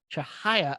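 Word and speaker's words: Chihaya: Elizabeth Chahaya, I believe is how you say that name, were married on April 20th on a glacier in Alaska in a private ceremony.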